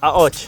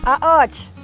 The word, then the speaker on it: Qaqoċċ: Qaqoċċ. Qaqoċċ.